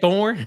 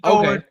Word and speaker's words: Thorne: Nick, is Jalen Milroe better than Peyton Thornton? Who's Thornton? You talking about Peyton Thorne? Is that what you said? Peyton Thorne.